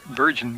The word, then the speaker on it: Bergen: Actually, I'm going to pronounce it Bergen, but I'll wait and see. It's B-E-R-G-E-N. It could be Bergen or Bergen. I'll go with Bergen.